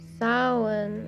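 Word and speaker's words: Samhain: Samine approximately pronounced sin is an is a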